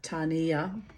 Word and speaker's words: Tania: dubs I met Tanya Tania T pronounce the Mori way Tania I met Tania